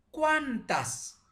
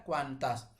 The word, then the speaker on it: cuántas: Atau di sini cuantas, ya, cuantas.